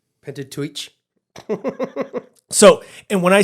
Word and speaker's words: Pentateuch: Is it the Pentateuch or Pentateuch? I think it's Pentateuch. Pentateuch. At least that's how we pronounce it in the U.S., so, or the way that I've always heard it.